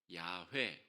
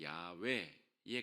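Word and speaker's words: 야훼: 그러다가 이제 여러 다른 사본들이 발견되면서 그 당시에 그 단어를 부르는 표현이 야회 혹은 야외에 가까운 발음이다.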